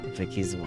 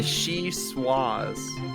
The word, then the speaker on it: vichyssoise: Vicky's wall. That's spooky. Vichyssoise. Vicky's walls. Vichyssoise. V-I, she, Yeah. Swaz. With a Z. Well, that's American pronunciation.